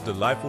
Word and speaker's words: delightful: The correct answer is G and H. The G and H are silent. Next question. Stay calm and focused. Does delightful describe something pleasant or something scary?